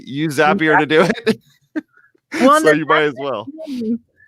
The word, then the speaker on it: Zapier: is it zapier and it's like zapier makes you happier and that's how you remember it before people did that